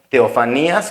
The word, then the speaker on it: teofanías: quieren apuntar también esto así como se escucha teofanías con acento en la i y las teofanías son